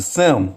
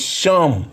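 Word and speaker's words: שם: their vowel points, and they just pronounce it Sem, but it's Shem, Shem, Shem, Shem.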